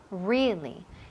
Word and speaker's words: really: Really. Y énfasis en la primera sílaba.